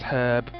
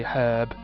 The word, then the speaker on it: herb: I'm the herb because in America they pronounce herb without the H sound they say an herb